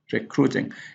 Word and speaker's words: recruiting: recruiting. Here is a stress on the second syllable, but because you have two vowels here, crut, U and I here, then you don't double the consonant.